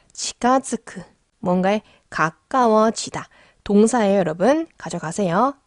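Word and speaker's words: 近づく: 자, 후유니 치가즈쿠니 즈레테. 자, 치가즈쿠. 뭔가에 가까워지다. 동사예요, 여러분. 가져가세요. 치가즈쿠. 근데 이게 발음이 좀 어렵거든요. 츠에다가 땡땡이 붙었어요. 그렇기 때문에 발음이 어려워요.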